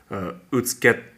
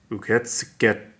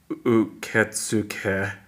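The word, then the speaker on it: 受付: For example, if you look right here, uketske, so it's uketske, that's how they pronounce. So rather than, it does supposed to say uketsuke, but it's actually uketske.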